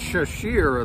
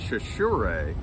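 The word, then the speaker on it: Chachere: uh sure that's true yes it's a weird pronunciation it's shashir it looks but it's chashure i actually looked that up because i didn't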